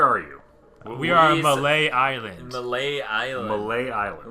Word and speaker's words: Mallet: you we are on malay island malay island malay island which is spelt like mallet for the record wow yeah so malay